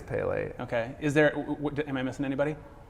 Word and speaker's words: Pelé: I always said Pele, but I think it's Pelé.